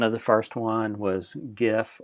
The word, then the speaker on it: GIF: the first one was gif or Jif people argue over the correct pronunciation of that but gif is the